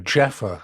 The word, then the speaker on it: Jaffa: in hia not hia Jaffa I don't know how you pronounce it J A WFA like the orange we found a Shanta